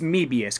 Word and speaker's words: Mebius: maybe yes as it's it's kind of like maybe yes except it's as Mebius because it actually comes from the word mobius strip and if you take